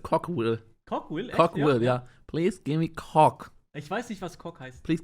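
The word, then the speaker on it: Cookeville: Ja, und dann bei Cookville. Und da sehe ich mich drin. Please give me cook. Please give me cook. I like cook. Das heißt, es wird anders ausgesprochen, das heißt Cockville.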